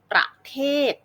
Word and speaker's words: ประเทศ: อย่าง เช่น นะ คะ ประเทศ เรา จะ ออก เสียง ประ นะ คะ เบา ๆ ไม่ เน้น น้ำ หนัก เสียง ไม่ ลง น้ำ หนัก เสียง นะ คะ